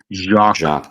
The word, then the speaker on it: Jacques: Did you know that Jax, I don't know how you say that, Jax Picard? How do you say that? I don't know how to speak French. Jacques, there you go.